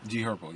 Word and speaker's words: G Herbo: G Herbo, yeah. G Herbo.